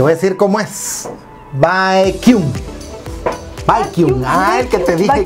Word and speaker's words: Baekhyun: O sea, hay gente que lo pronuncia Baekhyun, otros Baekhyun. No sé. Te voy a decir cómo es. Baekhyun.